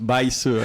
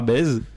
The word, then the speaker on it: Baise: Bon, ça se prononce Baïse, mais ça ressemble fort à Bèze.